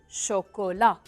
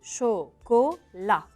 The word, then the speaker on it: chocolat: vache troisième au du chocolat n'oubliez pas haut mais un t on le prononce pas du chocolat le quatrième haut c'est un